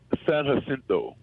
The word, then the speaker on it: San Jacinto: San Jacinto, California.